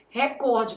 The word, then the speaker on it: recorde: Só na sua prova que você precisa saber que o certo é o quê? Recorde, porque essa palavra é paroxítono.